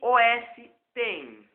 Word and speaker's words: OS X: é é rápido o o Mac OS X pronuncia-se os1 que era um nome é sugerido pela Apple